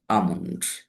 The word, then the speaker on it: almond: That means here in this word L is silent.